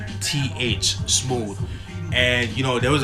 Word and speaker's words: Smoovth: But Smoovth is spelled SMOOVTH. Smooth.